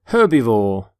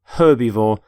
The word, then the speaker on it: herbivore: herb by the way you pronounce the h in the word herbivore for example this stomach